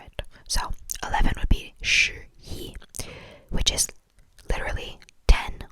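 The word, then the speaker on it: 十: I think if I were to spell it out, by the sound of it, it sounds kind of like S-H-R, sure, because there's an sound after the S-H at the end.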